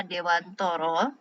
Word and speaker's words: Dewantara: itu seperti konsep kihajardewantoro jadi bacanya meskipun tulisannya Dewantara tetapi kita membahasakan nya adalah Dewantoro nah Dewantara itu memang